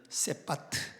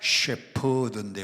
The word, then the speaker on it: 셰퍼드: 개종류 중에 퍼드가 있는데이 셰퍼드가 발음이 안 돼서 옛날 어른들은 세파트 세파트 세트라 그랬어요 그 세트가 셰퍼드 원래이 셰퍼드는 양치는 목자를